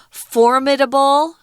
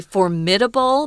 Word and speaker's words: formidable: also be pronounced as formidable um i like to say formidable but formidable is also correct with the jungian the the strong uh syllable is on the first syllable so formidable though she